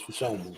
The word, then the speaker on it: Olu Fashanu: I might have to learn how to pronounce that name at some point, bro. Olu Fashanu. Thank you. It's Fashanu.